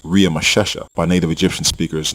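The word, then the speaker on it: Ramesses: fashioned which was part of the Royal name Ramsey in which was actually pronounced RI mashesha by native Egyptian speakers not Ramsey the Egyptian name in Genesis 4711 and exodus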